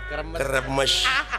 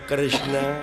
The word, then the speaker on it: Kresna: Tah eta Batara Kremes. Batara Kresna. Kremes aing mah. Padahal nu leresna mah Kresna.